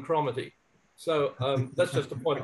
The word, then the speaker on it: Cromarty: By the way, I've met no Cromarty who pronounces it other than Cromarty.